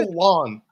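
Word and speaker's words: Tiuliulin: Tulin. Well, I am glad. Tulin.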